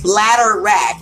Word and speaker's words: bladderwrack: ask you kiss you kiss removes mucus and it rhymes right but you kissed the other name for it is bladderwrack it's b BL a DV e RW r